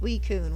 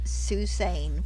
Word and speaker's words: Suicune: But I remember learning that Suicune was pronounced Suicune when we'd all been pronouncing it Susane for like 4 months.